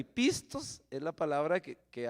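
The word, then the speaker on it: πιστός: verdad porque viene de la palabra pisto no pistos Usted ya sabe que es dinero y pistos es la palabra que que habla de fiel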